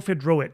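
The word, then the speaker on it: Fiedrowicz: be actually uh last one number 10 Michael fedro I think I'm pronouncing that the right way fedro f i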